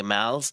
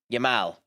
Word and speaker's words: Yamal: specifically because a year beforehand himself and Lenny Yamal's or um Lenny Lemens what the how do you pronounce it? Um Yamal Yamal.